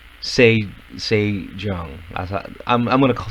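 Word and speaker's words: Sejeong: saying her name wrong s e j e o n g say say john i thought i'm i'm gonna say zhang just because it's easier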